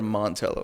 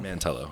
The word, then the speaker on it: Mantello: Mantello or Montello? Mantello. Mantello. Yeah. So did I say it right? Nope. You said it wrong.